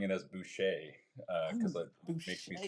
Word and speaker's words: Boucher: So, like, I relate to that, but Buché just sounds fancy and French. I love it. I've been saying it wrong this whole time. I've been been like boer will boer. The artistic interpretation of it just totally valid.